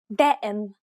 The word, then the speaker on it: دائم: دائم ضابط. The first example is pronounced as expected.